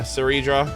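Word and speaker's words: Cerydra: We have Hycelins and I always forget how to pronounce her name. Ceridra? Is it Ceridra? Yeah, okay, yeah, Ceridra, yeah, and then everybody else.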